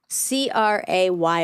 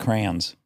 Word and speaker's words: crayon: still kind of okay here the options with one syllable rhymes with man cray yeah oh that's what you're saying huh MH with two syllables sounds like crayon no with two syllables where the second syllable rhymes with Dawn crayon no crayon [ __